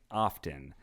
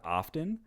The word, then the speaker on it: often: professional radio voices saying often. So this person is more upset with people that pronounce the T like a hard T in the word often.